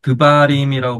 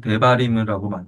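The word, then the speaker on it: דברים: 그래서 옛날에는 드바림이라고 발음했는데 요즘에는 그냥 대바림이라고만 발음해요.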